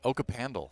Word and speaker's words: Okapandle: Okapandle. Oh, the Okapandle. Okapandle, yeah. Because it's like an okapi, right?